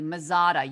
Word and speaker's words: Mazzotta: Mazzotta? Good job. You pronounced that correctly. Mazzotta, you rock star.